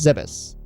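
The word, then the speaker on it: Zebes: the planet say yeah it turns out it's pronounced Zeus the Pirates stole the metroids and took them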